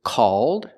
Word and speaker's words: called: North Pole so remember the different pronunciations of these words the first word is called it's open and the second word is cold old if you still don't